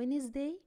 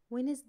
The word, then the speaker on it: Wednesday: وقاعدتنا بتقول don't pronounce the letter D if it comes after the letter E.